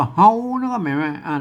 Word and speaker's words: เรา: ไป แล้ว ก็ มา อัน นี้ อ่าน ว่า เฮา จะ เล่า นะ ครับ